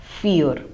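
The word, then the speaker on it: vier: we have already discussed the German V takes the pronunciation of English F fear so the word fear has the same pronunciation as the English word fear f e a r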